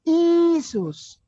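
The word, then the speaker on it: Iesus: dan Sigma lagi ya Jadi yang pertama itu bukan Y bukan tapi i iota i sehingga dibacanya isus isus isus Kenapa ditulis begitu di atas itu karena mereka menempatkan kata nazarenus di belakangnya pelan-pelan Kenapa tidak Y atau J Jesus atau Yesus tapi I karena di belakangnya itu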